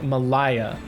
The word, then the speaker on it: Malaya: because a tentative or a watchful viewer corrected me that my pronunciation was wrong. Malaya.